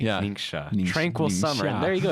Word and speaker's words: Ningxia: correct your friends on how to actually say it properly ninga tranquil summer there you